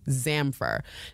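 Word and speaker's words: Zamfir: So the mother started doing some research, and she came across an article by a Romanian psychologist, Marius Zamfer. Now, if you're Romanian and I'm pronouncing that absolutely wrong, blame it on my American accent.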